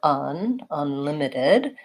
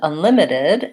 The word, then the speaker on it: unlimited: So in the word unlimited, we have the schwa vowel for unlimited, and the I vowel for the rest of the vowels. And unlimited has second syllable stress.